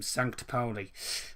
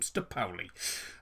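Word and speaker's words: Sankt Pauli: say sn kt um sancta poli um it took me 10 hours to actually work out how you put some because i've always been pronouncing i've always been pronounced from st paulie uh for some daft reason um well there you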